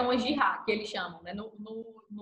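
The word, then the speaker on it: جهاد: A gente tem que saber que uma guerra santa é uma jihad, que eles chamam, né? No mundo islâmico, uma guerra santa seria uma jihad, que eles chamam. Jihad. Seria a pronúncia correta.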